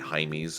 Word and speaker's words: Jaime: Jamie's at Blue Reef. It's actually Jaime's, but since we're Americans here, I think primarily we'll pronounce it Jamie so you know how to spell it.